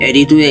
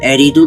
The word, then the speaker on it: 에리두: 완벽히 출토되었습니다 대홍수 이후에 에리두 도시는 기원전 5000년경 우바이드 문화 시대부터 시작되었으니 고고학적으로 밝혀졌습니다 문제는 대홍수 이전에도 또 다른 에리도가 있었다는 것이죠 왕좌의 장소라는 뜻입니다 수메르의 별종인 아카드인들은 에리두라고 발음했습니다 이것은 수메르어 사전을 통해